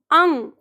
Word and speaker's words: अंग: उच्चारण ले रहे हैं तो ध्यान रखना इसमें ए का उच्चारण नहीं होता ये अल में क्या होता है इतना इसका सही उच्चारण वो है जो हमारी नाक में जाके हो रहा है तो जब हम इसका